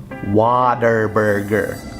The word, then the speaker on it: Whataburger: It's actually spelt Whataburger, but we know for a fact it's pronounced Waterburger.